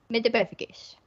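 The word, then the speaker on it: Metamorphmagus: Metamorphagus.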